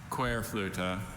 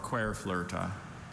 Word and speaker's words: Querflöte: Querflöte or Querflöte.